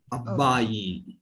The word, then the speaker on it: అబ్బాయి: Okay, so here you can use little long vowel sound, Andy, like abbayi.